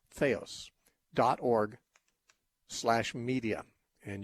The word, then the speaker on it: theos: our website and listen to those things theos is spelled t-h-e like the it's t-h-e-o-s feos dot org slash media and you can get